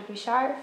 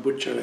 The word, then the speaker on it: Bhuchar: Bhuchar for the Houston Asian American Archive. So my name is pronounced Bhuchar, actually.